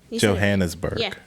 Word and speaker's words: Johannesburg: myself so no you said it right though Johannesburg Johannesburg okay I'm not gonna say it again oh